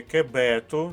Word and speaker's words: кебету: спину перед кимось четверте мати кебету наголос на другому складі це синонім до слова